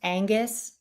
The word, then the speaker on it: Wangus: Pronounced Angus like the beef.